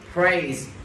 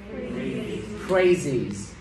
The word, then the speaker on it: praise: Praise. Các bạn nghe chữ S, E phát âm là sợ giờ. Praise. Giờ. Cho nên số nhiều sẽ đọc là praises.